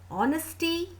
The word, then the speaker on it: honesty: Honesty, h is silent, o sound is there, so it's again a vowel sound, so we'll use an before honesty.